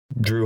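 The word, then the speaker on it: Jrue: They spell it J-R-U-E. Just fucking make it Drew like everybody else.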